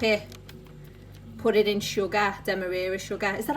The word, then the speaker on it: demerara: Put it in sugar, demerara sugar.